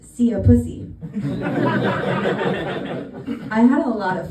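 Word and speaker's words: szia puszi: My favorite is that the saying goodbye kisses in Hungarian is pronounced "szia pussy."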